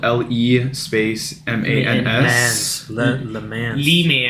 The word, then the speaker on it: Le Mans: and that's spelled LE space MANS. Le Mans. Le Mans.